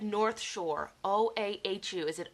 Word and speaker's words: Oahu: You said North Shore, O-A-H-U. Is it Oahu?